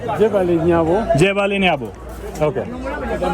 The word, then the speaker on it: Jebaale Nyabo: How do you say it? I'm forgetting it. Jebali. Jebali Nyabo.